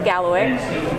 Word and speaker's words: Kalawikk: And it is spelled with a K, but in Mi'kmaq, K's are G's, so it is GaleWick.